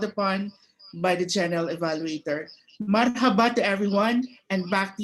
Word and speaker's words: Marhaba: a h a b a Marhaba it is pronounced as Marhaba it is an interjection which means welcome or